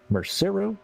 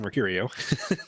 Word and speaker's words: Mercurio: finger off the button brian mercero is that how he wanted it pronounced uh well no it's uh brian mercurio oh well it's a